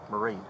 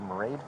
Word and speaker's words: Mairead: It's hard to pronounce. Mayred, like Marade. She said Marade, like parade.